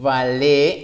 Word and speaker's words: Valier: Valé, acuérdense que la pronunciación es Valé.